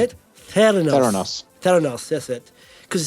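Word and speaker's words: Theranos: Panos how do you say it Theos Theos Theos that's it cuz it's about therapy and Diagnostics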